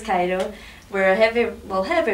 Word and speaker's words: Ciro: rock and we're called Cairo it's spelled c i r o but pronounced Cairo we're a heavy well